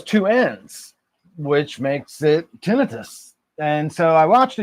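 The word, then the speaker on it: tinnitus: Um, so I kind of got there ahead of him and realized it is pronounced tinitus and it is and those are the reasons why there's no actual inflammation going on in anything in your ears.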